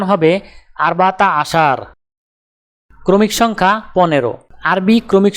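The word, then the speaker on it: عشرة: আরবি ক্রমিক সংখ্যা 10 দেখতে এরকম, উচ্চারণ হবে আশরা।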